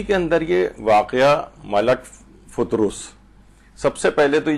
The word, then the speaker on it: فطرس: تو دو فے کے اوپر بھی پیش ہے اور رے کے اوپر بھی پیش ہے، یعنی فطرس اس کو صحیح طور پر پڑھا جائے.